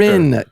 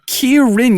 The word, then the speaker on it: Kieran: Kierin. Kierin. You never say it right.